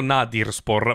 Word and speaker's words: Nadirspor: È scritto Nadirspor, ma si legge Nadirspor, che vuol dire squadra scarsa, letteralmente.